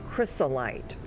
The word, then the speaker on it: chrysolite: Is it chrysolite or crystallite? It's chrysolite.